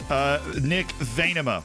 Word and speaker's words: Venema: We brought in the striker from Utrecht, Nick Venema, we've been informed is the way to say his name.